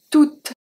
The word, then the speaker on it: toute: We have tout, T-O-U-T, masculine singular, toute, feminine singular, with E at the end. The last letter that I pronounce is the T, not the E.